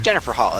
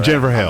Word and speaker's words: Jennifer Hale: It's Jennifer Hall. It's Bachelor. Jennifer Hale. I'm not mispronouncing her name.